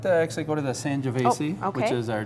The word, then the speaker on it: Sangiovese: Sangiovese, is that how you pronounce that?